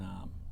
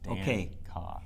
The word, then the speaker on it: Dancause: it's one word, and in France it's spelled Dancose, but they anglicized it in Quebec. So my grandfather was Quebecois, and then Dancause, like it sounds. Dancause.